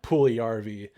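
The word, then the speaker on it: Puljujärvi: I think it's his name is actually pronounced Jesse Puljujarvi, um, Jesse Puljujarvi, whatever.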